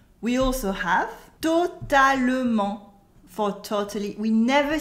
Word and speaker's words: totalement: We also have totalement for totally. We never say it like that. We never say totalement. We cut the E and say totalement.